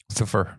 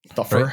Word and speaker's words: Thufir: Thufir, like thumper. Thufir. Right? Doesn't the audiobook say it as Thufir? Thufir Hawat. I don't remember. Okay, so it's either Thufir or Thufir. I'm pretty sure it was Thufir.